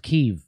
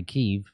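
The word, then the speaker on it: Kyiv: think that's pretty i i think it's pronounced keeve no that's how i hear them all the news presenters say keeve oh wow it's weird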